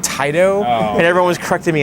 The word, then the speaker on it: Taito: everybody corrected me and I used to say tato instead of Taito and everyone was corrected